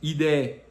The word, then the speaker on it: ID: Ele teve a versão mais barata que é o Citroen ID, né, que em português é é IDE, que é a mesma pronúncia de ideia, né?